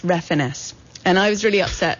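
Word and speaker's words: Refenes: his partner um Tommy his last name is pronounced refiness and I was really upset because I really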